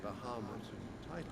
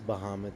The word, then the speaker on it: Bahamut: witnessing a clash between Bahamas and Bahamut it is not to be yeah because there's no e in it I guess it is Bahamut I don't know why